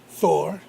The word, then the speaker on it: Thor: We were talking the other week, and he's like, "I'm Thor." I was like, "What?" Thor. Well, it's Thor, but Thor. It's, the pronunciation from Norway is Thor.